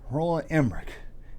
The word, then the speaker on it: Roland Emmerich: Roland Emmerich.